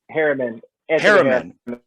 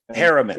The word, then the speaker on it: Harriman: Harriman. Harriman.